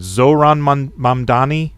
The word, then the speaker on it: Zoran Mamdani: Here is I'm gonna mispronounce his name. Zoran Mamdani.